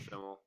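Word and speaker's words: Schemmel: Because I really want to see Sean Schlemmel's did I say his name right? Yeah, Sean Schimmel. Sean Schimmel.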